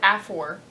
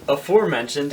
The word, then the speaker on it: aforementioned: It's aforementioned. That's what I said. You said afor. It's a four. Okay. So you aforementioned... It's 1.5 syllables, not 2.